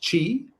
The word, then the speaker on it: Qi: Qi is pronounced Qi. Qi.